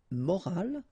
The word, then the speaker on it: morale: but in that case you get this at the end, which is silent, so you don't pronounce it.